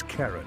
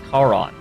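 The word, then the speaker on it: Charon: Karen I'd wager I I'm sure that's how you pronounce it but the entire time I was being like raised and I was a McNeill kiddo I always thought that was pronounced house car on or char on not Aaron house Karen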